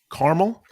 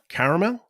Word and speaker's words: caramel: question to you is carmel caramel are you asking me how i pronounce it yeah i'm i'm not biased i'll say either one yeah but but carmel's not right i will throw both